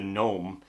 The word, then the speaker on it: Gnome: There was Gnome, the Gnome, except it's spelled N-O-M-E.